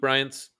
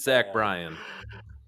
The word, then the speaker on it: Bryan: Yeah, it's Luke Bryant's nephew. It's not Bryant. It's Zach Brown and Luke Bryant's offspring. I'm pretty sure I said Zach Bryan.